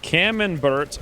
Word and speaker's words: camembert: six or seven prepared camembert rhymes with cucumber wait pro nouns okay